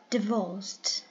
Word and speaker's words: divorced: And the third one, divorced. Divorced. Two syllables. The second one is stressed and it's adjective.